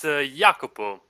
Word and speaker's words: Jacopo: Yeah, it's Jacopo. Jakob. It's basically like Jacob in English. The Italian name is Giacomo, but my name is the Florentine variant, Jacopo.